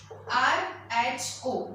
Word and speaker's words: rho: Okay, RHO, that is rho, its pronunciation is.